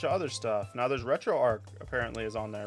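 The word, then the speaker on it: RetroArch: other stuff now there's retro Arc apparently is on there retro Arch however you want to pronounce it I think it's Arch retro Arch is now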